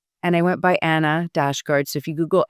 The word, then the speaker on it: Annahid: But when September 11th happened, 9/11, I actually reclaimed Annahid, my full name and the Persian pronunciation of the name, as a way of